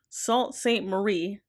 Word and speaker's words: Sault Ste. Marie: The last episode we were in Sault Ste. Marie.